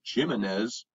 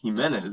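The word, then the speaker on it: Jiménez: Like, so the secretary says Jimenez and Sancho says Jimenez, and it seems like that actually points to a way that they are approaching their Latino or Hispanic heritage.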